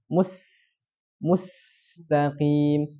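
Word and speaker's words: المستقيم: Hilang sifat hamsnya. Harusnya dialirkan dengan banyak sekali udara yang keluar. Mustaqim. Tapi dia bacanya ihdinas siratal mustaqim. Beda ya. Mustaqim dengan mustaqim.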